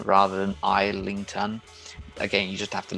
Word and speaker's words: Islington: it would be sailing and navigation i think islington rather than islington again you just have to learn this sort